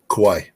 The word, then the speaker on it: Kauai: they they did they did yesterday they said kawawi is that how to pronounce it Kauai Kauai yeah the Pacific Ocean is that just